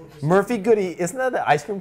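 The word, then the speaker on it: Murphy-Goode: manufacturer what Murphy good it has e on the end this is silence I don't care this is how we pronounce it Murphy goody isn't that an ice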